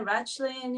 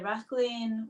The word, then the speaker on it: Rachlin: Um, you can say Ratchling, you can say Racklin, whatever is comfortable for you.